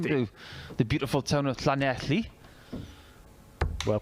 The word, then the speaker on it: Llanelli: I've been to the beautiful town of Llanelli. Well pronounced.